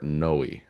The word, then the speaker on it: Noé: Is it no, right? I figured I'd ask. It's actually pronounced Gaspar Noe. Gaspar Noé. Yeah, Uh, or no I, or I think it's Noe. I even on my notes I put the little umlaut, whatever, above it.